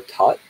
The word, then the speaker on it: Thoth: If you're watching this live, then tomorrow I'm giving a channeling of Thoth, or Tot in the traditional Egyptian pronunciation.